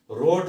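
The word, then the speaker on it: wrote: Right में first form में W silent है, इसी तरह से सेकंड फॉर्म में रोट हम पढ़ रहे हैं, ये W साइलेंट है।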